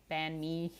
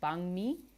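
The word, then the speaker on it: bánh mì: I'm learning the proper pronunciation. I don't even know if that's proper, but it's closer, I guess, than pho and banh mi. Banh mi. So I guess if there's like an NH, it kind of sounds like NG.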